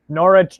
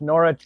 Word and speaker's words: Norwich: new and lee lisa steve knowledge three times norwich norwich norwich yes right yeah that's how you say it